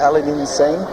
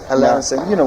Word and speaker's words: Aladdin Sane: Aladdin Sane? Aladdin Sane? Aladdin Sane? Aladdin Sane. Aladdin Sane.